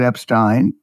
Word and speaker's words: Epstein: as well and of course uh uh he pronounces it Epstein Alex Epstein I think you've had him on